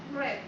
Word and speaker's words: read: el verbo leer que en pasado cambia a red su pronunciación pero se mantiene su escritura Y tenemos